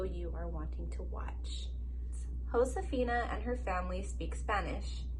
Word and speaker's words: Josefina: it will tell you what the word means and how to pronounce it remember that in spanish j is pronounced like h that means joseph josefina's name is pronounced josefina i'm gonna start crying